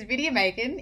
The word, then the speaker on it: Vidya Bacon: My name is Vidya Bacon, in bold. I say it like Lydia Bacon.